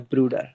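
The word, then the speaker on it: Bruder: ब्रूडर ब्रूडर।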